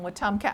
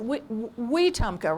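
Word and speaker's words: Wetumpka: back this afternoon from watumka alabama and it's been fun going to it's a new bookstore in the little town of watomka i'm not saying it right it's wee tumka right we tumka anyway it's the town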